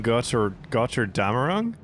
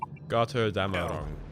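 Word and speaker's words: Götterdämmerung: Codename Götter Damerung? Hello. Is that how you pronounce it? Götter Damerung. Gotterdammerung.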